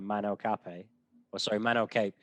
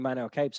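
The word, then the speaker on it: Manel Kape: Up next, we've got Manel Cape. I'm too used to kind of watching this guy's name pronounced by Japanese announcers and journalists. So yeah, I'm pretty sure the pronunciation is Manel Cape, but it's been Cape.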